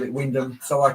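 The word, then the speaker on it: Wymondham: you get to norch there's a place called Windam but it's actually spelled why mam but they all call it Windam so I called it Windom excuse me and Signal cabin greetings to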